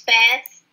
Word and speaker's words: SPAS: I'm on the spas. I think that's how you pronounce it. It's pronounced as a spaz. Spaz. Like you spaz them on the floor.